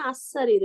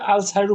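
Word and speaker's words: السَّرِيرُ: এটা আপনি তো যখন কমপ্লিট প্রথম বর্ণ সিন, সিন জোর সা, সূর্য বর্ণ না চন্দ্র বর্ণ। সারিরু আর আপনি আরেকটা কথা, অত চিন্তা নাও যদি করেন, আপনি চাইলেও আল সারিরু মিলেই পড়েন তো পারলে। হ্যাঁ, আল সারিরু ভেঙে ভেঙে বলতে হবে আল সারিরু, কিন্তু মিলাতে গেলে আল সারিরু বলতে পারবেন না, আস-সারিরু সারিরু হবে।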